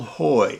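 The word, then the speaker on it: Haughey: The musician's name is Bill Hoy, H-A-U-G-H-E-Y, but pronounced like H-O-Y.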